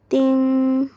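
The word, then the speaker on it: 钉: Terus kita punya ting, dia itu dibacanya sama dengan T ya. Kalau T, dia kasusnya sama kayak huruf P. Kalau T itu dibacanya itu TH, ya, gitu. Ta, gitu. Kalau D dibacanya T.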